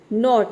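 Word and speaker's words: knot: change कर देता है नॉट यहां पे देखिए नॉट में भी के लेटर साइलेंट है एन ओ टी हो गया आपका नॉट नी में देखिए के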